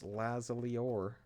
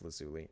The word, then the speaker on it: lazuli: Well, we have two ender pearls and 36 lapis lazor. I know it's lazuli.